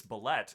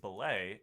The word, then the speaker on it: Bellette: those of you wondering why it's bellette instead of belay it's because if we're following the french pronunciation there is an e at the end of it and so the double t turns into a hard t sound that's fun uh that